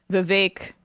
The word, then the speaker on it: Vivek: I mean, Vivek, rhymes with cake, brought a Sharpie and a notepad and then wrote Nikki equals corrupt.